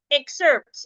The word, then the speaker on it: excerpt: that has two syllables if the word is a noun or an adjective I'm supposed to stress the first syllable I should stress the